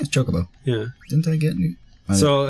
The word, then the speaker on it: Chocobo: or uh what it how do you say chocoo is it Chocobo yeah Chocobo yeah didn't I get